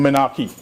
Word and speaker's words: menarche: in itself has little or no effect on menarche. Menarche is spelled M-E-N-A-R-C-H-E.